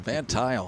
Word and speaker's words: Van Tile: loaded now for mark van tile i heard the pa announcement pronounced this last name van tile i said it right we go advanced